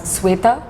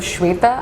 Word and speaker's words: Shweta: So one thing people do with my name a lot is they say my name as Sweta instead of Shweta, and I'm like, it's a very common name. Shweta जो है is SHWETA.